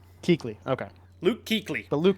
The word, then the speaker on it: Kuechly: Yeah, but it's pronounced Kuechly. Kuechly.